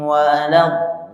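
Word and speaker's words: ولا الضالين: Ghairil maghdubi alaihim waladin. Nah, jadi bacanya dengan enam enam harakat. Memang ini panjangnya seperti itu.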